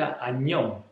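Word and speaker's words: 안녕: en coreano en el modo informal se dice anión año año año una palabra de dos sílabas muy fácil y es para decir en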